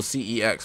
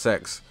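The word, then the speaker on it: CeX: to uh my local my local C ex bro or kex but apparently it's pronounced sex so yeah um bro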